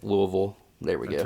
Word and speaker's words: Louisville: might go to kentucky people don't hate me louisville for the uh that show i'd like to go that one but if you're in kentucky i'll say it right louisville there we go right